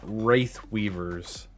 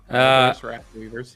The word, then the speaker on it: Wrath Weavers: Balador's Wraith Weavers. Wrath Weavers, yes. Oh shit, it is Wrath. Fuck. Why'd my brain add an I no matter what?